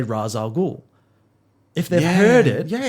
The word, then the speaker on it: Ra's al Ghul: no one can just pronounce the name right consistently Ra's al Ghul I said it myself it should be ratio cool yeah and that's what